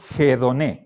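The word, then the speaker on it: ἡδονή: encima de la vocal si no estuviera el espíritu áspero Entonces esto pronunciamos edoné pero este signo me está diciendo que hay que aspirar la vocal por lo tanto pronunciamos hedon ya el espíritu áspero vale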